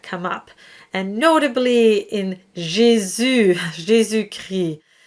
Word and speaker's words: Jésus: So the U sound is an E sound that is rounded, and you really want to round your lips, and you want to feel the muscular tension in the lips. So you start with an E and you switch to the U.